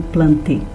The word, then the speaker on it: Plantae: O reino das plantas é chamado de reino Plantae, a gente escreve Plantae, mas vocês se lembram bem que é do latim esse termo, então a pronúncia fica algo parecido com Plantae.